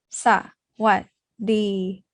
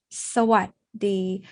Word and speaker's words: สวัสดี: Thais don't say like a robot like this. สวัสดี Instead, we say สวัสดี So when you place